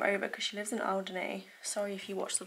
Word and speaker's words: Alderney: I always say it wrong. It's Alderney.